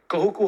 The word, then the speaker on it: Kahuku: you're from my name is and I'm from Kahuku Hawaii you pronounce it like a D in the toy